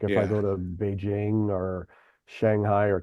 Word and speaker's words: Beijing: Is uh uh B E I J I N G. A lot of Americans say Beijing. Yeah. But it's it's Beijing.